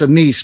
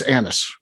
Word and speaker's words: anise: anis it's anna's right i always want to say it's a niece but that's wrong it's just wrong it's anise and not ginger i